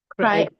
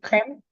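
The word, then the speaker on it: Riem: How do you pronounce the last name? Michael, I have. Crane. R-I-E-M, Yes, exactly. Crane.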